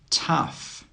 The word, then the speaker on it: tough: Tough, tough. The GH in all of these words is actually pronounced as an F. That means the sound is a F sound.